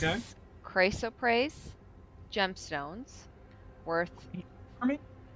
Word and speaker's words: chrysoprase: chrysoprase gemstones worth For me? chrysoprase, CHRYSOPRASE. I had to look up how to pronounce those.